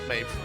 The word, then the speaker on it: Medb: Didn't say a word when I got Maeve right. When her name is spelled, you know, it's spelled MEDB in some terms.